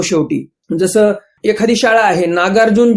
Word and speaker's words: नागार्जुन: शाळेचे नाव काय होणार नागार्जुना पब्लिक स्कूल असं करतात नाव नागार्जुन होत ना परंतु लिहिताना शेवटी ए आला आणि मग लोक सर्व तसच प्रोनन्सशन करतात त्याचं तसच उच्चारण करतात नागार्जुना म्हणतात तसं मूळ नाव जे